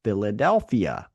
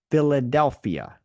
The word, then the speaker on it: Philadelphia: travel to Phoenix or Philadelphia notice the uh the pH here when we combine the p and the H together it's pronounced like an f f f f right Phoenix or Philadelphia so ph sound those